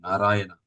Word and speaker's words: Narayana: of the holy name, Narayana. Na-ra-ya-na. So 4 syllables.